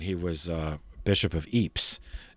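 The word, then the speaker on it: Ypres: was a bishop of eeps in belgium that's spelled y-p-r-e-s and there was an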